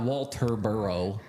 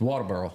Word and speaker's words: Walterboro: how you say it it's not it's the bur it's not Walter burrow it's water burrow it's the burough it's